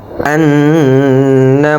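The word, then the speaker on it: أَنَّ: ওয়া আশহাদু ওয়া আশহাদু ওয়া আশহাদু আশহাদু আল্লা ইলাহা ইল্লাল্লাহু ওয়া আশহাদু আন্না মুহাম্মাদান, আন্না ওয়াজিব গুন্না, এখানে গুণ্য হবে, কিন্তু আমরা অনেকেই গুণ্য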